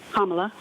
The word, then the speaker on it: Kamala: The open border promoted by border czar Kamala Harris, that's how you say her name, Kamala, continues to allow illegal entry into the country, causing chaos, disruption, and financial pressure on American cities and communities.